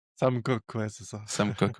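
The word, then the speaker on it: Koch: Euh tu vas tu es le digan successeur de notre de notre comment tu le prononces ? Coque. Sam coque.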